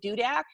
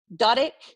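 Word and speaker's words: Dudek: I do this a lot with Dudak because people spell it 18 different ways. It's super easy, D-U-D-E-K. It's not that hard. It's dude with a K, but people spell it Duder, Dudick, Doder, like, it's cool.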